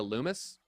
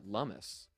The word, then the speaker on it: Lummis: I thought it was Cynthia Loomis, and then I was listening to a podcast, NLG from CoinDesk, pronounced it Cynthia Lummis.